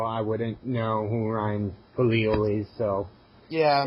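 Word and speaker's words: Kalil: Number 99 was Ryan Khalil, or Kala, or however you say it. Yeah, you said it right. It's Khalil.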